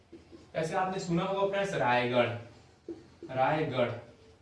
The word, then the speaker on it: रायगढ़: ऐसे आपने सुना होगा फ्रेंड्स रायगढ़, रायगढ़, तो ये वाला ढ नहीं है, ये वाला ढ है रायगढ़, रायगढ़ ये बिंदु वाला।